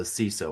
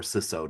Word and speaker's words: CISO: So if you're in cyber security, you know the CISO or SISO depending on how you pronounce it, that person is got